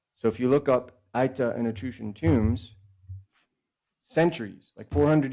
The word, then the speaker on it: Aita: It is spelled A-I-T-A.